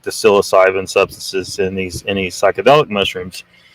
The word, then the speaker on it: psilocybin: It was like, where they used like they found people that had used mushrooms, psilocybin mushrooms, psilocybin mushrooms. I need to get in the habit of pronouncing it correctly. Psilocybin. not psilocybin.